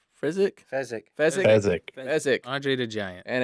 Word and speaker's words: Fezzik: And a very large man named Frenzik. Fezzik.